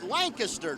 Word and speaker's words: Lancaster: You got to say it like you're from Kentucky, Ted. Lancaster, daggone it.